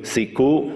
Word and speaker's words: siku: Siku, with a silent consonant at the end, is the word in Uto-Aztecan.